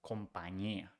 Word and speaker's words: compañía: on top, the ñ, and the ñ is pronounced ñ. So company becomes compañía.